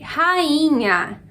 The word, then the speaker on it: rainha: Número 7, rainha. Rainha. Então esse I é uma sílaba sozinho e é a sílaba que a gente fala com mais força. Portanto, a sílaba tônica.